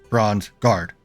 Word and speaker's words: Bronzegarde: are bronze guard yes yes okay and it's pronounced bronze guard right yes and your names are ail points